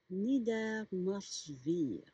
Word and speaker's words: Niedermorschwihr: Le W, bien sûr, se prononce comme un V.